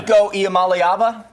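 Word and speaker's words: Iamaleava: Nikko Iala, I'm working on it. I've got to get that one. Niko Iala, you got it.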